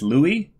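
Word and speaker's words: Louis: all right and it's Louie lure for the jeer so more and more the French pronunciation there but yeah those are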